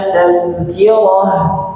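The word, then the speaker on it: تذكرة: Nanti bunyi h-nya terdengar jelas. Tazkirah. Coba tazkirah. Roh roh atau di ayat 12, zakarah. Zakarah. Jangan sampai terlalu perlahan suaranya sampai tidak terdengar. Contoh, contoh ibu ya. Kalla inaha tazkirah tazkirah. Nah, enggak ada h-nya enggak ada sedikit pun. Ah, ini harus ada H.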